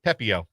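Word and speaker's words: Pepiot: Yeah, Pepio.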